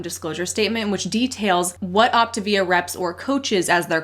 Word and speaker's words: Optavia: the multi-level marketing company optivia which I've recently learned is not pronounced Octavia like I've pronounced it forever you learned something new